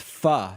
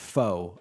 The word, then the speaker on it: pho: People saying it's pronounced pho, not faux.